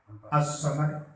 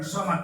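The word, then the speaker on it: الصمد: As-samad, bukan somad teman begitu, tapi as-samad. Tapi ketika hukum membacanya kan Allahus somad. Itu kan alif lam syamsiyah ya. Alif lam syamsiyah tidak dibaca ya.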